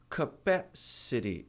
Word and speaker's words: capacity: Capacity.